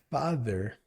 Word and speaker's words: father: A segunda palavra é a palavra father. Father tem um som parecido com mother no th. Ao invés de falar d com som de d, seria father com th.